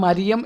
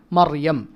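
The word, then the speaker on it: مريم: ഇപ്പോൾ മറിയം അല്ലേ, മറിയം റാക്ക് സുക്കൂനാണ്, തൊട്ട് മുമ്പ് ഫത്ഹയാണ്. അപ്പോൾ അവിടെ മരിയം എന്നല്ല പറയേണ്ടത്, മർ തഫ്ഹീമാണ്, മറിയം.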